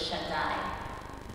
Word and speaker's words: Shaddai: that it's a name, the way that you pronounce it in Hebrew is Shaddai.